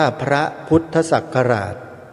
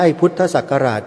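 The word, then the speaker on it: พระพุทธศักราช: เวลา อ่าน เต็ม ที่ ถูก ต้อง ต้อง อ่าน ว่า พระ พุทธศักราช ไม่ ใช่ พุทธศักราช เฉย ๆ แต่ ไม่ รู้ เหมือน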